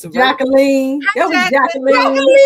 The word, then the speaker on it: Jacqueline: Jacqueline. You playing Jacqueline? No. It's the French pronunciation which is the correct pronunciation of my name but I say Jquelin.